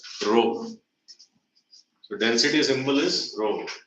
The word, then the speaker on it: rho: sign of density rho it's pronounced as rho so density symbol is